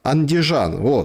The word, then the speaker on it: Andijan: Andijan, c'est comme ça que ça se prononce, oui, je l'ai prononcé.